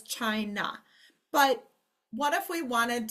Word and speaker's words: China: of the word always, or a at the end of the word always changes to schwa. So this word says China, but what if we wanted to spell with a long A sound?